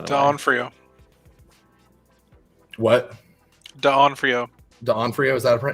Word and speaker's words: D'Onofrio: D'Onofrio, is that it's pronounced?